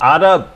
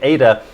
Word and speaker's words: Ada: not as powerful as ada as ada sorry i've realized recently that i'm mispronouncing ad it's actually ada it's named after ada lovelace who was a mathematician